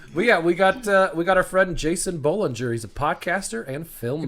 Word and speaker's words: Bolinger: we got our friend Jason Bolinger. He's a podcaster and filmmaker. That's how you pronounce his last name?